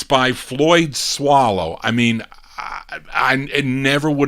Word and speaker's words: Soileau: It's spelled Soileau. So I said Soilou, and they're telling me it's swallow. How do you get swallow out of S-O-I-L?